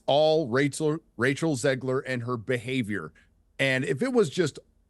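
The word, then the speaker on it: Zegler: But yes, it's all Rachel Ziegler and her behavior.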